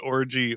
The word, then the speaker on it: Orji: I like that he pronounced orgy orgy. You know what I mean? I was a big hit at the orgy. Yeah. Do you know the actress Yvonne Orji? Her last name is Orgy, not Orgy.